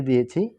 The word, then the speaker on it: the: তাহলে CAKE, সিটা কি কনসোনেন্ট, তাহলে কনসোনেন্টের পূর্বে কি ছিল দা, তাহলে এখানে কি হবে দা হবে।